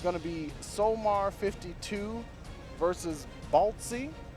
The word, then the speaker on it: Balltze: be somar 52 versus baltzi bolts with just the E is silent yeah you know see